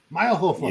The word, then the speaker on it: Mayrhofer: Did I say it right? Mayrhofer. Almost. Mayrhofer.